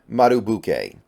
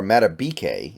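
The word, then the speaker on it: Madubuike: out of college Justin matuk and this guy is really interesting for us or matab is actually how you pronounce it excuse me thank you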